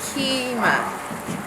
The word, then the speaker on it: Qimmah: It's Qimmah. A lot of people have a hard time pronouncing it, so just remember a key, like a key in a door, and then ma, like mama.